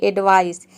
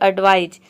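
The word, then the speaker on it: advise: तरह से करते हैं अक्सर स्टूडेंट गलती करते हैं इसको बोलते हैं एडवाइस एडवाइस नहीं होता है ये होता है एडवाइज एडवाइज मतलब होता है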